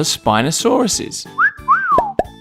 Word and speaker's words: Spinosaurus: Spinosaurus.